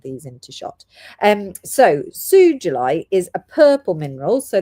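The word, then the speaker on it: sugilite: it was pronounced uh sugulite because it's named after a Japanese man called Mr. Sugi.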